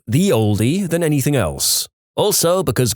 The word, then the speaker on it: ye olde: The ye in ye olde is actually abbreviated as an early modern English letter called thorn that was pronounced like th, so it's pronounced more like the oldie than anything else.